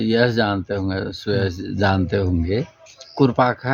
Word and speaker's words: कुरपाखा: मतलब गांव खुरपाताल नहीं है, कुरपाखा है। अब कुरपाखा राजस्व ग्राम में जो तालाब है तो कुरपाखा ताल, अंग्रेजों का प्रोनाउंसिएशन है तो वो खुरपाखा ताल का तो खुरपा ताल हो गया हो।